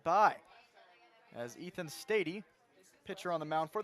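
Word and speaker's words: Stade: His name is pronounced Stady, spelled S-T-A-D-E.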